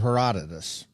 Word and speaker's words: Herodotus: lecture difference in belongings in the histories of Herodotus and confession time I had to Google that